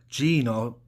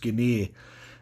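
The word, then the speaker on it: Gene: the list tonight is Stanley Gino as I've read it's actually pronounced Guinea and he had a very long career which spanned from 1993 to 2010.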